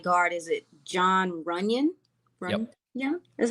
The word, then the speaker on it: John Runyon: I mean, you mentioned I looked all across their offensive line from start to finish, and the right guard is it John Runyon?